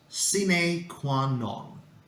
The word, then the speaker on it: sine qua non: The correct pronunciation is sine qua non, and it refers to an essential condition, something that is absolutely necessary.